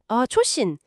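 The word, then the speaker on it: Chosin: 그래서 장진이라는 한자 지명을 일본식으로 발음한 초신일 그대로 사용하게 된 거죠.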